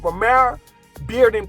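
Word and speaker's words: Romare Bearden: or Vermeer Park premiere beard remit from Lamar Romero Bearden park that's how you pronounce it say if you're under 30 years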